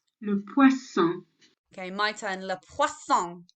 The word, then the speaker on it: poisson: le poisson, Okay, my turn. Le poisson. Your turn. Lovely. So la poisson. So that N sound on the end is silent. So it's an on sound.